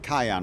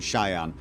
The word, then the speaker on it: Cheyenne: Sorry, I keep pronouncing it Cayenne rather than Cheyenne.